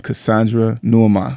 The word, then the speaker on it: Cassandra Nuamah: I call her Coach Cass Fit all the time, but her actual name is Cassandra Nuamah.